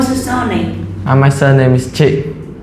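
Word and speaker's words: Trinh: And my surname is Chi. How do you spell it?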